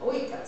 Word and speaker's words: oikos: Now, I understand this is pronounced ekos, but I hear people from Greece pronouncing it oikos.